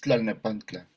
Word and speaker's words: Tlalnepantla: Es Tlalnepantla.